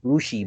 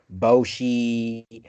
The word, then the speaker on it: Boujii: saying my name wrong my name is rushi but i'll get boshi bushy i'm sorry and i'm